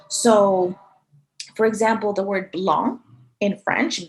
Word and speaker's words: blanc: for example the word blon in french b l a and c which we know as the color white belong you don't pronounce that c at the end right you don't say blanc you don't say that